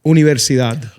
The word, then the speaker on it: Universidad: I'm saying it like a gringo, obviously. Universidad. One more time. Universidad. Universidad. Versidad. Yeah, there you go. Universidad. Universidad. Universidad Theos.